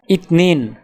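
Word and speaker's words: اثنين: আরবি ক্রমিক সংখ্যা 2 দেখতে এরকম, উচ্চারণ হবে ইতনিন।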